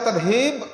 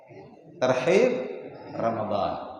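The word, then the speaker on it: ترحيب: datangnya bulan Ramadan tapi kalau dibaca tarhib maknanya menakut-nakuti Pak sebagaimana tarhib wa tghib ancaman tgib dorongan motivasi tarhib ancaman menakut-nakuti Nah maka di sini penting Ulun sampaikan makhrajnya pengucapannya agar kemudian tidak salah makna Ayo sama-sama kita tarhib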